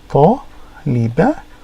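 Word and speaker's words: طالبة: So if we look at an example, here we go, taliba, taliba. So even though it is the ta here, it sounds like an taliba. You're not pronouncing the ta yet.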